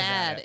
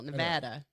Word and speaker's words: Nevada: I know in New Hampshire, everybody says like Nevada or whatever, or maybe it's Nevada. not Nevada. It's ad in the middle. Nevada.